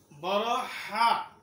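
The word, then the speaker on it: حاء: সুন্দরভাবে সহিভাবে শুদ্ধভাবে উচ্চারণ হয়ে যাবে জিম জিম জিম জিম জোরে বলো জিম একসাথে জিম পাঁচবার জিম জিম জিম জিম জিম এখন আমরা হা শিখব জোরে বলো হা উচ্চারণ করতে হবে গলার মাঝখান থেকে হা উচ্চারণ করতে হবে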